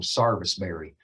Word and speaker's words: sarvisberry: carolina they call them sarvisberry so uh s-a-r-v-i-s it's even spelled that way you know it sounds like a southern accent but they actually spell it out sarvisbury but uh to keep